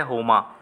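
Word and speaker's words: Homer: तो सही जवाब है हो मां ऑप्शन नंबर सीईओ जाएगा होमा इसमें आर जो है वह साइलेंट है इसलिए इसको होना पड़ा जाता है हैं इन्होंने क्या लिखा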